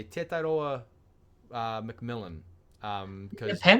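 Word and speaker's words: Tetairoa: I can't wait to hear everyone say Tedoa because it's not how you say his I mean maybe that's you know how Americans say his name but like Teta like it's a Hawaiian name.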